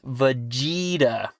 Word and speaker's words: Vegeta: yeah balls and that it's pronounced Vegeta yeah portent well like vegetable hmm you see in